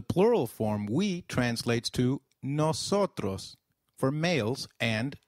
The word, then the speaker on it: nosotros: The plural form we translates to nosotros for males and nosotras for females.